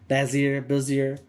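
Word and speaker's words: Bézier: Bezier.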